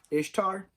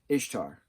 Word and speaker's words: Ishtar: i feel like an idiot bear with me ishtar ishtar ishtar i-s-h-t-a-r she's the mesopotamian goddess of love and